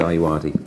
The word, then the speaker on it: Ayoade: Anti-Foreword by Richard Ayoade, that's the pronunciation.